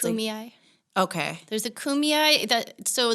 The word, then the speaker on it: Kumeyaay: It's Kumeyaay.